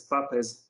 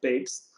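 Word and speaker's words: Papez: many years ago by a person who who was called papes but most of the times people pronounce it as papa's euro circuit but this person called himself babes but if you say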